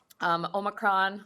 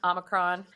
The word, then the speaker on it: Omicron: available to the public omicron omicron it can be pronounced either ways it's the active variant